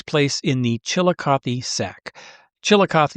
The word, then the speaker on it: Chillicothe: Chillicothe is how you pronounce it.